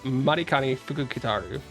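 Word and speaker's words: Matikanefukukitaru: Oh, Marani Fukuaru, guys. It's Marikani Fukitaru. That's how you say the name.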